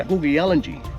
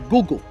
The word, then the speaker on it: Kuku Yalanji: Yeah, this is our tribal name, the Gugu Yalanji. Pronounced Kuku Yalanji. Okay. But we keep the K a silent letter. So we say Gugu.